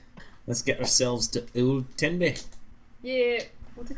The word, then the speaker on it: Tenby: Oh, no, it's Tenby. That's what I spelled. You said T-E-B. Ah, it's Tenby. Tibby.